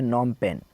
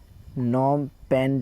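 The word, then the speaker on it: Phnom Penh: capacity का नाम है वो है नाम पेन नाम पेन जो है इसकी कैपिटल सिटी का नाम है ये पी जो है ये साइलेंट है यह नाम पेन जो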